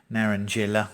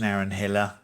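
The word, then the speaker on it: naranjilla: the linear exuca seeds narendrilla or it might be pronounced naren hiller mountain papaya colombian red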